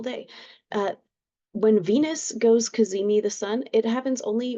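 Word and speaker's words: cazimi: talk about today today Venus is kazimi the sun okay that is spelled c a z m i and what it means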